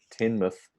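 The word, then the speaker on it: Teignmouth: the grass juicer henry says it's produced it's pronounced tinmuth where'd the band muse originate from there's an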